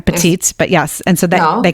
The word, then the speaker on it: Petit: you have a website that's michelle pettit and i'm saying that wrong again petite but yes and so